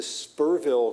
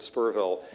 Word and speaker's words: Spearville: area went to to spur ville Candace I don't have anybody here is this is city it's spelled spearville they pronounce it spur ville and it's going through